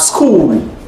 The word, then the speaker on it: school: Yes, we have school. The edge there is silent.